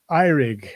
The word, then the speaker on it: Eurig: of the way his name is spelt it's pronounced iRig and so welcome Eric and to you ross